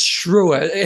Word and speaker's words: Schreeuwer: Now, his name is spelt pretty full on, but he said it's Schreeuwer. Have I got it right?